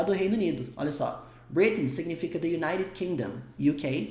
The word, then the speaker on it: Britain: Britain's longest reigning sovereign, soberana do Reino Unido, britânica, reinando há mais tempo. Esse Britain's está falando lá do UK, está falando lá do Reino Unido. Olha só. Britain significa the United Kingdom, UK, caso você queira